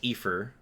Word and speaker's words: Aoife: It is pronounced Aoife.